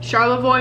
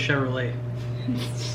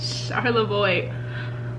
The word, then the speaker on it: Charlevoix: Charlevoix, Michigan. I thought it was Chevrolet. Charlevoix. I've been saying it wrong this whole time.